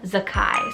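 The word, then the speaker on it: Zaccai: Zach or Kai, and that is the name Zakai, so spelled Z-A-C-C-A-I.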